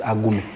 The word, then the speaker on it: Agume: So my name AGUME. Actually, in pronunciation it is AGUME.